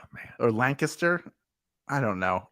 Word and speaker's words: Lancaster: is every other Lancaster Lancaster is how they say it in Pennsylvania Lancaster or Lancaster I don't know like